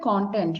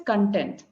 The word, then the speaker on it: content: the pronunciation see um you said content right but it's content if you have good